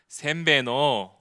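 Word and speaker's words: Сайн байна уу: 다른 것들은 다 발음이 어려운데이 샘배노만 여러분들 잘 기억하시라고 제가 일본 과자 중에 샘배가 있죠? 예. 샘배 안 먹어요. 예. 샘배노 이렇게 기억해시면 되겠습니다.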